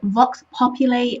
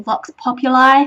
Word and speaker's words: Vox Populi: Okay, in broadcasting, it can be pronounced as in the Latin word Vox Populi or Vox Populi.